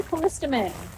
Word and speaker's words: Callistemon: It's a callistemon.